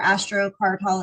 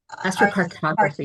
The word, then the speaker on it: astrocartography: Like you like literally, is that your astrocartol? Am I saying it right? Astrocartography. Cartography. Was it that took you to Rome, Italy?